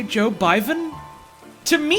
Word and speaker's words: Biden: Joe Biden and specifically he keeps mispronouncing Joe Biden as Joe Byron and and he starts